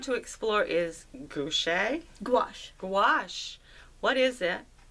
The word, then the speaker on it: gouache: what I want to explore is gche gouache gouache what is it how to use it how